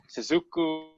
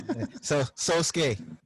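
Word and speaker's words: Sōsuke: Oh, I pronounced it wrong? Sosuke. Sosuke? Sosuke Aizen. Like Sasuke? Yeah. Sosuke? Like Sasuke?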